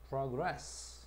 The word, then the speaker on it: progress: 동사일 때는 강세가 뒤에가 있고 그래서 progress 렇게 발음하고 명사일 때는 그래서 우리가